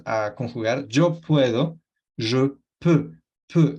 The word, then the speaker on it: peux: Entonces tenemos pouvoir, poder, y cuando lo vamos a conjugar, yo puedo, je peux, peux. Ese sonido E sale con la boca en O y pronunciando una E como en español. Y normalmente va a salir una E, más o menos, para aproximarlo al inicio.